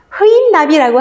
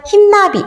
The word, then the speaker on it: 흰나비: 흰나비. 흐인나비라고 하지 않죠? 흰나비. 발음 어떻게 하죠? 흰. 이번에도 의가 쓰였지만 발음이 1번과는 다르다라는 것.